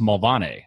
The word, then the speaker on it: Mulvaney: So, my name is Mulvaney. Well, over there, up in Belfast, it's pronounced Mulvaney, apparently.